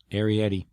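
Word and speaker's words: Arrietty: one but anyway tell me how do you pronounce the name of that Studio gibl Movie ar ar Yeti AR Yeti thank you it was awesome really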